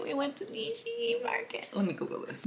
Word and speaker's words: Nishiki: really good later that night we went to Nishi Market let's hope I'm saying it right we went to Nishiki Market let me Google this Nishiki Nishiki Market